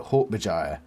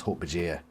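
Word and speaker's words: Hork-Bajir: some horkbajar aliens uh he pronounced it he pronounces it like i used to pronounce it hawk bijaya i used to pronounce him like that and then one of my mates back in primary school told me it was hulk bhajir that was years ago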